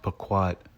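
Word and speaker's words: פָּקַד: Which is pronounced paquad.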